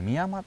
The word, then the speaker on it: 深山: 元ではあの宮山層とも呼ばれてましね宮山宗あ深山と書いてあり三山と読むんですねあなるほど